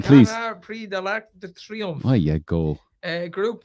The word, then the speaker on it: Prix de l'Arc de Triomphe: No, give it its proper pronunciation, please. Prix de l'Arc de Triomphe.